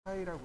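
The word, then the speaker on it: φ: 얘를 뭐라고 읽냐면 파이라고 읽습니다. 파이.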